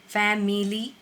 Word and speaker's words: family: Family नहीं करना है. Okay, it's family. Example, I love my family very much. I is silent over here. Family.